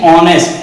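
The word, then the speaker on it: honest: Sound आपने पहचान लिया क्या है, ओ यानी ऑनेस्ट, एच इज the silent, तो ओ आ गया।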